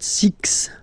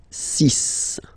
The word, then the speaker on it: six: s Sun s and be careful here because even if it's ending with this x well you'll have to pronounce it like s okay so you get the sis pronunciation sis okay so it's not six it's sis all right then here